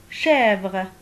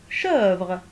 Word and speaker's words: chèvre: Chèvre. Sans accent, ça va se prononcer chèvre, donc c'est faux.